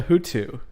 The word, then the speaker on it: HooToo: But what I got is called a Hutu.